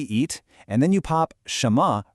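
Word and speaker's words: 什么: So this is shénme, and it's pronounced shénme.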